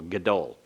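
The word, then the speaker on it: גָּדוֹל: So this is a vocal schwa beginning the syllable, gadol. Gadol.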